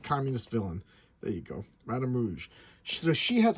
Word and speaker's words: Madame Rouge: Her name is Madame Rouge, like Madame Red. So she's a commie. Like Khmer Rouge. She's a bad communist villain. There you go. Madame Rouge.